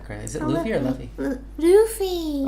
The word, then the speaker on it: Luffy: Luffy. Oh, because it's Japanese, so Luffy.